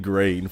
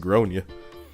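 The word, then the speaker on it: Gráinne: She asked what I meant and I said, "Well, in Ireland, um, it's pronounced Groonia."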